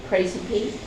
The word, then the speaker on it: Praesepe: It has a little star pronounce it Praesepe.